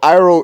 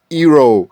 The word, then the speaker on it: Iroh: Like, he got everybody's name wrong. Uncle Iroh is Ero.